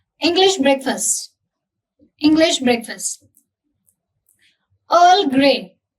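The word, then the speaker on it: Earl Grey: English breakfast English breakfast अर् grain इसको आप पूरा अर्ल नहीं बोलोगे आप सीधे अर् ग्रेन अर् grain fruit T fruit T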